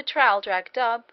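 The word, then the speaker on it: Traldragdubh: and my retinue to tr drag dub or Trill drog drip for it is pronounced both ways as near as I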